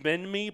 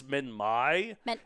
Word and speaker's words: Minmi: I've always pronounced it Minmi, but apparently it's Minmi.